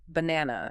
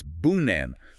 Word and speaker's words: banana: The a is a schwah or banana. It's not banana. It's bunan. The first and last A's are lazy. If you pronounce them clearly, you sound like a robot.